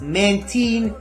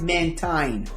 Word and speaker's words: Mantine: It's Mantine, which comes from Manta and Marine. It's not Mantine, whatever you might think about it.